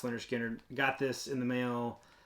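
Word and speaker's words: Lynyrd Skynyrd: Speaking of Analog Productions, I don't know if I showed this, but this pronounced Leonard Skinner.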